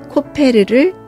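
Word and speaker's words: כֹּפֶר: 만들기는 역청을 발음으로써 마무리됩니다 역청은 히브리어로 코페르입니다 바른다는 것은 같은 어원에서 나온 카파르입니다 고페르남으로 만든 방주에 코페르를 카파를 해야 합니다 코페르에는 몸값 속전이라는 뜻도 있습니다 방주가 바다에서 건짐을 받으려면 코페르를 칠해주어야 하고 코페르가 제 기능을 하려면 나무가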